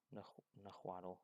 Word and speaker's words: Nahuatl: Nahuatl.